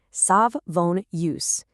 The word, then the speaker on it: Savonius: Another variation is the Savonius turbine. Pronounce it with me. Sav- von- ius.